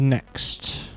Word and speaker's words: Nyx: introduce you to the Nyx system okay because NYX is next yes the small little